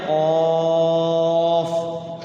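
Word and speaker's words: ق: Padahal dibacanya nun, sod dibacanya sod, qaf dibacanya qaf, toha dibacanya toha ya.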